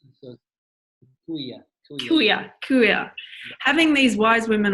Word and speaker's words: kuia: women who are of the, how did you pronounce the wise woman, the Maori wise woman? The Kuai? So, kuia.